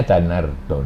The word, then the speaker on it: Danardana: kalau Bacanya Danar Dono.